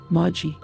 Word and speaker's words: Magoi: This ancient Greek word is written, Magoi, but the correct pronunciation is, Magi.